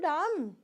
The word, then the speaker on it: dumb: both the cases so what do we have to say b u m Dum will we say will we make May create a sound of B no keep this in mind you